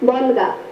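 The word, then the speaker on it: বল্গা: দেখো, উচ্চারণ করতে গেলে আমরা যুক্তবর্ণটি পাচ্ছি, একটু বারবার বলো, বলগা।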